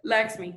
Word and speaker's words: Lakshmi: I don't know how to pronounce that. Lakshmi, yeah, that's correct.